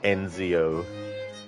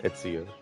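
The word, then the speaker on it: Ezio: And he actually mispronounces Etsio on uh on mispronounces it on purpose. He's like Enzo instead of Etsio.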